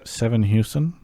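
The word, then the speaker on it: Sevenhuysen: Anywho, welcome to the second half of the show where we've got Kelsey Moser and Tim Seven Houston. Did I say it right? Houston. Okay, I did it right.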